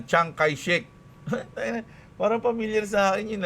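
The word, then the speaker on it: Chiang Kai-shek: Ah si tao pala yun si Chiyang si Chiek ah binibig binibigkas na Changai Shik Parang familiar sa akin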